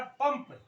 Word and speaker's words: पंप: मैंने आपको लिखा है पंप पंप इसमें आप ध्यान से देखें इस बिंदी का इसको बोलते अनुस्वार इस बिंदी का यहां पर उच्चारण य नहीं है न नहीं है म आता है पंप यानी के प